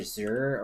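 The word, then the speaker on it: xir: them Neo pronouns and it's spelled x-i-r right it's supposed to be like um XE is G and x i r Zer or something like that and I'm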